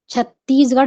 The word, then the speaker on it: छत्तीसगढ़: अस्ति तो छत्तीसगढ़ राज्यम ऐसा बोलते समय हमारा उच्चारण कहां तक उचित है शब्दों पर हम कैसा प्रभाव डाल रहे हैं शब्दों पर वजन किस तरह से डाल रहे हैं छत्तीसगढ़ राज्यम हमको छत्तीसगढ़ शब्द पर महत्व देना है या बल देना